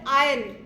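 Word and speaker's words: iron: वी कैन not help here it is called आयन आर is silent good good good sit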